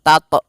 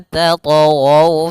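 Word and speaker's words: تَطْغَوْا: Kemudian tatghaw, ada huruf ta yang berharokat sukun, maka kita namakan dengan qalqalah. Hati-hati membacanya, jangan sampai membaca dengan adanya hamzah, jangan tato, tapi dia alla tatghaw fil mizan, mengalir saja.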